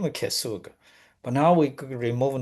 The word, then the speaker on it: K8SUG: Still pronunciation is the same, Kesug.